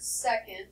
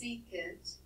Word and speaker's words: secant: Now, although I said don't pronounce this as the word second, because it's not, it's secant, it does look like the word second, right?